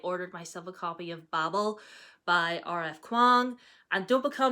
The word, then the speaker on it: Babel: And don't be coming at me being like, it's pronounced Babel. I'm British. I say Babel. If you're American, you say Babel. Like, R.F. Kuang says Babel, so shut up, okay?